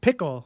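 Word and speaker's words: Pkl: for it um this this is called uh what is it PK pickle and pronounced pickle PK it's a new configuring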